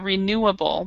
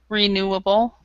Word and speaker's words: renewable: Be careful to pronounce all 3 of those syllables. Renewable, because I had the first time you heard it, I didn't understand. The second time, I figured it out. So it's renewable.